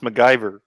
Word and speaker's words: McGivers: looks like mcgivers yeah it's spelled mcgivers but it's pronounced macgyver it's weird i know